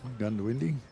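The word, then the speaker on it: Goondiwindi: Often uh misspoken. Mhm. Gundawindi.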